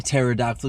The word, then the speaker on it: pterodactyl: I was like, "All right, why can't you hear a pterodactyl go to the bathroom?" Because the P is silent.